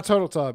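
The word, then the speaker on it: Turteltaub: national treasures john uh how do you pronounce that again it's is it turtle tab turtletop yeah john turtle tub yeah yeah yeah so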